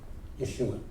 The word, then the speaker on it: Yeshua: And so again for us, there is yet another Joshua, whose name we now pronounce Yeshua, who said, in words